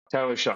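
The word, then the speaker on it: Shough: Just think, you know how you shuck a corn? That's how you say it, right? Tyler Shuck. Tyler Shuck. Tyler Shuck.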